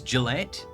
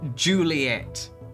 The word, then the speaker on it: Juliet: Juliet it's it's pronounced Juliet yeah yeah like Romeo and Juliet Romeo and Julet shaving